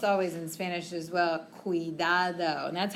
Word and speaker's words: cuidado: But when we have C-U, it makes it sound like a K.